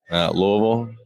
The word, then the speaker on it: Louisville: do you say the town you are from Louisville yeah Louisville so how do you feel that